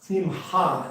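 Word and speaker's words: שמחה: Simcha Simcha S- has a het in there, and it's Simcha, it's a little in the throat, but not it's in between the hay and the half.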